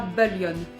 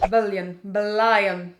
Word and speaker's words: Bullion: Bullion. Si tu veux, je tiens à l'accent sur celle-ci parce que prononcée à la française, moi ça m'évoque plus Laura Bullion, 3e B au collège de Châteauroux, et je la sens